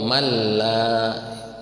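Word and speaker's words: مَنْ لَا: Malla ittabi'u malla, nun mati menghadapi lam itu idgham bila gunnah. Ada berapa hurufnya? Ada dua, lam dan ro. Jadi kalau nun mati ketemu lam jangan ditahan lama. Malla langsung aja.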